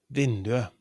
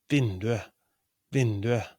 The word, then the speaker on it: vinduet: The pronunciation it's vinduet, vinduet, the window. So for definite neuter nouns, we don't pronounce the t. We write t, but we pronounce it e.